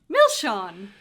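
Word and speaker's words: milseáin: god you sound irish i love it milsian milsin milzin milshan milshawn milshan milshawn our sweeties or candy sweeties yeah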